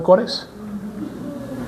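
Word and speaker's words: Kore: ¿Recuerdan los lápices de ese man Cores? No, en serio, hermano. Todo tiene que ver con eso. Así, tal cual como se escribe, así era la diosa pagana Core, con K-O-R-E.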